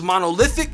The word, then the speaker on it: monolithic: The third word is monolithic. It's also an adjective, and lith is the stressed syllable, and it means characterized by massiveness, total uniformity, rigidity, unvulnerability.